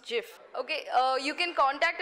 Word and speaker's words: GIF: pronounced yes anyone else is it uh it's pronounced gift it is pronounced gift by the makers the guy who made this he pronounces it gif but actually grammatically is pronounced Jif okay uh you can contact us if you